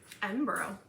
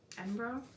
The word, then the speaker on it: Edinburgh: Edinburgh. Mm-hmm. Well, 36. Am I saying that right? Yeah. Edinburgh? Yeah. Someone corrected me once. It's like Peterborough.